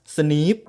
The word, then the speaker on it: SNPs: nucleo type polymorphism หรือ snps ซึ่ง อ่าน ว่า sne snps หลาย ตัว ไม่ ก่อ ให้ เกิด ผล